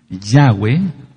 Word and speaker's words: Yahweh: que no tiene el pacto de la circuncisión yahwe que así se pronuncia por lo que ya expliqué no puede